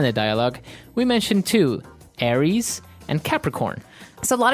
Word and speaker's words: Aries: Greek mythology that's right and uh so it's pronounced Aries Aries a r i e s Aries that's right and the other one is